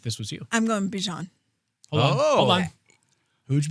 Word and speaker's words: Bijan: So we are making sure that we pronounce his name the way he would like it pronounced, which is Bijan.